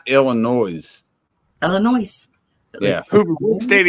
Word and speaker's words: Illinois: the state name to see that but it's Illinois yeah damn like quit ill it's not Illinois Illinois yeah what state are you in I'm